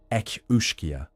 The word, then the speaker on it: Each-Uisge: The pronunciation ekushka with its guttural opening and the liquid flow of the second word mimics the sound of water itself.